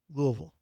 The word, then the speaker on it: Louisville: I don't know how the You don't pronounce the That's the moral of the story is there's no S in there. It's just Louisville.